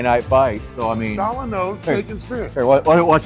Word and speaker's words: Shawanoe: SHAWANOE.